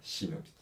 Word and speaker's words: shinobi: Par contre, il y a aussi une prononciation japonaise, et du coup, la prononciation japonaise va être shinobi.